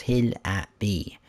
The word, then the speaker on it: Hillibee: It's 219.68 megabytes to download and the description says, "Welcome to Hillbilly Creek, pronounced Hill at B.